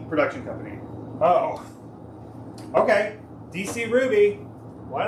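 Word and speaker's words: RWBY: Oh, it is pronounced Ruby.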